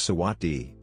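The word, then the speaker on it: สวัสดี: a greeting or farewell is sawatdee RTGS for pronounced sometimes romanized as Sawasdee this verbal greeting is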